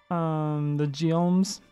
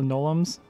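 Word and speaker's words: Gnolam: The Geolms, as I call them. I'm pretty sure that's not how you actually pronounce that. I think they're actually called the Nolums. I think the G is silent.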